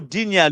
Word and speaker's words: Digne: And I said Dean. I'm not pronouncing his name well. Digne. You know him, right? Digne. Dig. Oh, Dinia, Luca Dinia.